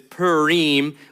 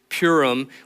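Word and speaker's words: Purim: this highlighted per it's you're probably thinking I'm saying it wrong it's it probably is but it's Pim which in in the way that we would say it is purum which is the festival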